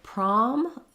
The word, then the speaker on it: prom: And then the word prom, here we have letter O saying the ah sound, which is the most typical. In a stressed syllable, letter O is often going to say the ah sound. So you might just want to rewrite that with letter A or the letters AH, so that you can get prom correctly. It's like the rhymes with words like mom, maybe one way to think of it. Mom and prom go together.